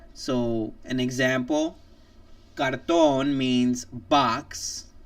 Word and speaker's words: cartón: It must stress the last syllable at the end with the vowel, an N, or an S. So an example: cartón means box, like a box, or cardboard.